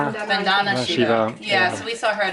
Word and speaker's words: Vandana: Think her first name is pronounced Vandana - - Vandana Shiva.